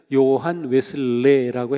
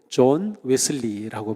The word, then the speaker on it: 존 웨슬리: 사람 좋은 웨슬리가 있습니다 예전에는 요한 웨슬레라고 했는데 요즘은 원래 그 발음대로 존 웨슬리라고 보통 합니다 자 300년 전에 존